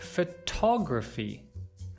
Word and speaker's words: photography: can say I like photography, photography. Notice how the word stress here has changed from stressing the first syllable. We're now stressing the second.